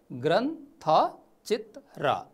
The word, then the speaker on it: ग्रन्थचित्र: यसलाई शुद्ध उच्चारण गर्दा कसरी गर्ने त? यो शब्दलाई यो जुन हरियो अक्षरमा दिएको छ, ग्रन्थचित्र, ग्रन्थचित्र हो, ग्रन्थचित्र हो।